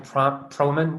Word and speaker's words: Proman: We're very, very happy to receive Michael Promann this week. How do we pronounce it, actually? It's Proman.